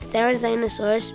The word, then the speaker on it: Therizinosaurus: Therizinosaurus. Can you say it with me? Therizinosaurus.